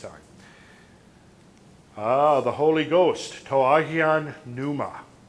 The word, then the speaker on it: Pneuma: The Holy Ghost, Toahian Pneuma. Pneuma, like root of our words like pneumatic, means the Holy Ghost or the Holy Spirit.